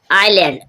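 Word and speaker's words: island: एस कब कहां कैसे साइलेंट रहता है एस आइलैंड आइलैंड मींस होता है टापू यहां पर आप देख रहे हो आई के बाद जब एस आया एस साइलेंट है आई आई मींस बहुत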